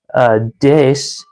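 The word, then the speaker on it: です: I learned that des, which is spelled like desu, is just pronounced dis.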